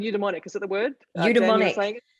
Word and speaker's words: eudaimonic: Eudaimonic. Eudaimonic, that's the one. I wrote it down phonetically and I'm sure it's wrong.